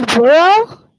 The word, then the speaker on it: bureau: Kansas Bureau? Yes. Say pro. How do you pronounce that?